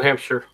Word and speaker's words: Hampshire: Or is it Shire? Which way do you pronounce that, MC? New Hampshire. So it's Shire. Sheer. New I thought- Hampshire. Sure. It's just sure.